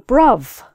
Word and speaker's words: bruv: That comes from the sort of London accent, the Cockney London accent, where Cockneys, instead of pronouncing TH, brother, they make a V sound instead, brother, brother.